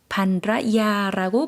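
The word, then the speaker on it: ภรรยา: ภ ร ร ย า 반라야라고 발음해 주시면 되겠습니다.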